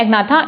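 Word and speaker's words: Agnatha: Vertebrates को इसको बोलते हैं एग्नाथा, इसको बोलते हैं नेथोस्टोमेटा। ठीक है, एग्नाथा ए को साइलेंट मत रखिएगा, इसमें जी को साइलेंट रख दीजिएगा, नेथोस्टोमेटा।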